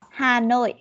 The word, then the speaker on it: Hà Nội: Cái phần nào mà có chữ N ấy, mà mình có bị ngọng sang âm L ấy, mình đọc chậm cho cô ha. Mình sẽ sửa từ từ thôi.